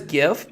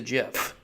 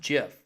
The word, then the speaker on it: GIF: jiff jiff versus gif everybody pretty much says gift but you know technically it's a jiff oh I'm a good guy well court see I know that technically it is pronounced jiff however I understand that even though that's technically